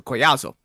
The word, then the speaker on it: Collazo: his last name again it looks like Collazo but if it's Hispanic two L's is a y sound so koyazo yeah I watched the